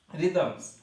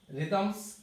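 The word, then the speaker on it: rhythms: এরপর হচ্ছে রিদমস। রিদমস এখানেও কিন্তু এইচ লেটার আছে, বাট উচ্চারণ হয় নাই।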